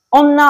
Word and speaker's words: 女: Chữ nữ này có thể đọc là jonyo nyo, onna hoặc me.